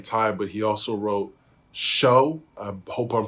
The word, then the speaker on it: SEO: but he also wrote Show. I hope I'm pronouncing it correctly this time. It's spelled SEO, but I believe it's pronounced Show.